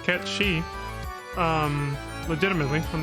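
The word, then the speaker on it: Cait Sith: Sith whose name is supposed to be pronounced K she um legitimately I'm not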